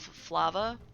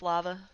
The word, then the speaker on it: Flava: one's called family of Flava I always want to say family off lava but that's not how you pronounce it but you can